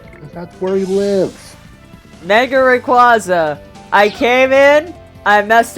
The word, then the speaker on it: Rayquaza: better it's great another pronunciation i don't agree with this it's uh is calling him calling the legendary dragon of poland rayquaza it's rayquaza as in quasar yeah because that's where